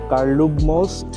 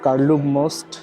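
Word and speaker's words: Karlův most: তারা বলে Charles bridge চেকের স্থানীয় ভাষায় বা এদের লোকাল ভাষায় এরা বলে হচ্ছে কার্লুক মোস্ট আমার উচ্চারণ পারফেক্ট হবে না কারণ হচ্ছে আমি চেকের মানুষ না আমার নেটিভ ল্যাঙ্গুয়েজ চেক না বাট ওরা যখন বলে তখন ওরা বলে হচ্ছে কারলুম মোস্ট মোস্ট মানে হচ্ছে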